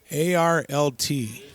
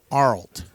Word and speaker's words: Arlt: a yard I think his name is pronounced alt o art ok ARL T Arlt Arlt ok that's what I'll